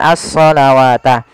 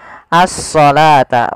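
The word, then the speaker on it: الصلاة: seperti ini bukan as nah ini jangan kita baca dengan asalawata tapi di sini kita bacanya dengan asalata wau di sini dianggap tidak ada karena di sini dalam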